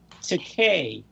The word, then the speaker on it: Takei: the way though it's it's pronounced Takei as in to pay but it I thought